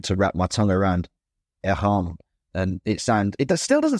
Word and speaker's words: Airain: native English speaker and I read this as Airain because I see the words air and I see the words rain.